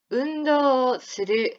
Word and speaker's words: 運動する: 運動する、 운도 스르. 자, 스르는 무슨 뜻이었다? 스르. 하다란 뜻이었어요. 하다. 운동을 하다. 운도 스르. 발음 굉장히 비슷하죠? 운동, 운도. 그죠?